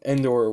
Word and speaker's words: Andor: And Cassinian Endor, God, I said his name wrong. Andor was totally not a great fighter all the time.